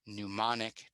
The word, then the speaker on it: mnemonic: All right, and my last tip, mnemonic devices. The M is silent.